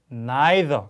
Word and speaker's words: neither: neither. 자, British English로 하면 neither.